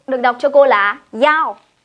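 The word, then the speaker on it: 一: đọc cho cô là y, phải đọc cho cô là yao. Các bạn ghi cho cô này, y trong mã số thường đọc là yao.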